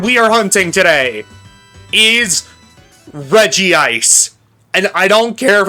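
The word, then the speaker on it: Regice: the shiny Pokemon we are hunting today is Reggie Ice. And I don't care if it's pronounced Rece.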